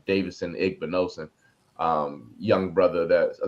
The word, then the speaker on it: Davidson Igbinosun: night that knew how to say his name, Davidson Igbinosun.